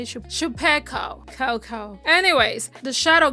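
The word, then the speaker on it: Chupeco: That's how that's how you say it Shapiko ko ko.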